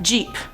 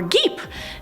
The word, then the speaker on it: geep: But let's move on to number 5, Jeep, or Geep. No, I'm not talking about the car Jeep, this is spelled G-E-E-P, and I was probably right the second time saying it's a Geep.